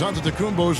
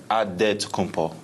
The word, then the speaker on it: Antetokounmpo: The Nigerian way, you gotta say with a D. So it's Antetokounmpo. but in the Greek way, you say with the NT, like Antetokounmpo.